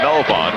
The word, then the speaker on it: Melvon: His father's Melvin with an I-N. Pronounced Melvon with an O-N.